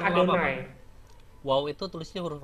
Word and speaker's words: YHWH: Tulisannya tetap YHWH tapi bacanya Adonai. Nggak boleh, bacanya Adonai.